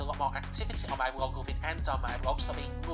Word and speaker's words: Bloglovin: which one, but it's Blog Loving. It's spelled BLOGLOVIN. Yep, it's sort of the slang of loving, but moving on.